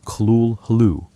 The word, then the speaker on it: Cthulhu: Lovecraft offered multiple pronunciations but preferred kul hoo using a hybrid notation of gutturals and glottle stops.